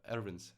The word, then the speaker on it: Erwin: So, guys, I'm going to leave Erwins, right? Erwin. Good pronunciation, yeah.